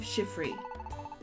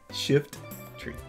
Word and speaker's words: Shiftry: you laughing at me you always say shiffy shift tree shift tree shift tree yeah like a Shifty what is wrong with